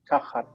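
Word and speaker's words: תחת: But in Hebrew, you can't swallow that T. It has to be pronounced tachat.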